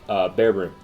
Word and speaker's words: Bearbrumm: And then you're going to go ahead and summon the new guy, Bearbrumm, the Rampant Rampager.